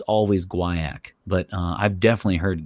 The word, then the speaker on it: guaiac: of those like American versus you know British pronunciation or or what was going on there so supposedly it's always Gua ACK but I've definitely heard guy ACK wood and I just the the a show